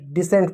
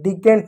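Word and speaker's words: descent: देखो यहां पे एक शब्द है इसको डिसेंट पढ़ते हैं। डी सेंट डिसेंट पढ़ते हैं। डिकेंट नहीं डिसेंट।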